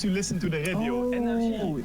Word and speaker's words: NRJ: Oui, energy. I used to listen to the radio. Energy. Oh, it's NRG. I thought it was like energy as in E equals MC squared sort of thing. It's energy.